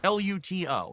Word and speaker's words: Luto: L U T O, not Ludo with a D, but l I was pronouncing it luto. And a lot of people like, "Oh, why does he say such a hard t?"